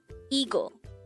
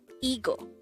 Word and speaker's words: 이거: number 184 eagle eagle this is pronounced as a two-syllable word the first syllable is e the second syllable is go pronounce it with me ego ego the meaning of the